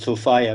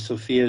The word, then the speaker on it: Sophia: uh I use the like to pronounce this word Sofia because sopia is generally what you call a woman's name and Sofia kind of distinguishes it as being a little different Sofia is a Greek